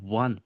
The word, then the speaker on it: one: The word one is pronounced as if like it starts with W.